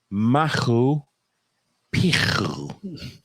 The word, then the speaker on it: Machu Picchu: And according to the pronunciation, the C I will help you with the pronunciation. is not it's a silent C, so it's Machu Picchu. Or P2. Perfect. P2. It's a T sound.